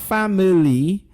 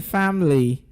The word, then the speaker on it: family: Not family, but then family. Okay, the letter I there disappears as well in the pronunciation of that word.